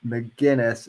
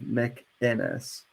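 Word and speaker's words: McInnes: he dmca me because I mispronounced his name mcginness instead of MC inis no sorry Gavin mcginness you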